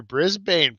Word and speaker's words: Brisbane: on the Gold Coast near Brisbane pronounced brisban okay brisban um yeah uh M